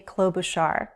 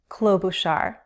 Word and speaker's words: Klobuchar: 3 syllables and the first syllable is stressed. It follows the same stress pattern as Buttigieg. Buttigieg. Klobuchar. If we break it up into 3 syllables, it is easier to say. Klo, we have a consonant blend, KL, klo, long O, boo, long oo, shar, with an SH, sh, shar.